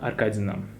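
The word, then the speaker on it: Аркадина: The first name and surname is Irina Nikolaevna Arkadina.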